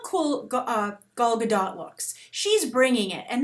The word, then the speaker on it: Gal Gadot: show pointed out that the correct pronunciation of an Israeli name, such as hers, is Gal Gadot.